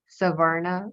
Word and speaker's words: Savarna: privileged people, I think they're referred to as Savarna, right? Is that how you Yes.